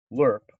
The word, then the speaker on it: lerp: um just one last thing if you google lerp that's what it's pronounced it's uh linear interpolation so if you